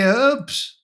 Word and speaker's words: herbs: The Yanks say herbs even though it's got an H in it.